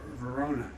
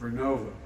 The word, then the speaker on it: Vernova: Arcosa makes wind towers that's going to go into turbines made by GE Verona. Excuse me, I mispronounced it. Vernova in Florida, New York.